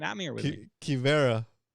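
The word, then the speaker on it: Quivira: Quivera. Oh my god. The U is silent.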